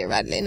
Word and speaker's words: Rädlein: But, you know, you can say Rädlein as well. But it's Rädlein.